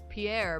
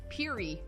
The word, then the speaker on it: Pierre: We have a street called Pierre, but it's pronounced Peary.